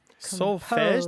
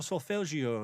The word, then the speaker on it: solfège: Yeah, solfège or solfeggio, yes. How do you spell it? I'm probably not saying it all that correctly. S-O-L-F-E with an accent, I believe it's an accent grave, G-E, solfège.